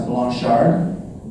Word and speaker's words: Blanchard: my last name is Blanchard as Nick told told you it's a it's a French name so it's actually supposed to pronounce Blan Shard but I don't want